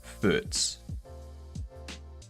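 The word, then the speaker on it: Furz: You say fart as foots. Foots is fart. F u r zed.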